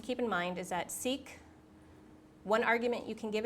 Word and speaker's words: seq: okay so the function seek so why don't we look that up seq so if you look that that that's sequence that is sequence yes short for sequence because we cannot have